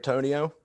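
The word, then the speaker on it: Bitonio: Hodges, the receiver, and then I forget how to say his name, like Bolatoni, something like Joel that. Batonio.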